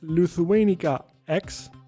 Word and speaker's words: Lituanica X: that you are here your team name is lithuanica X right and your team number is 2242 yep is that how you pronounce it yep that's how we pronounce it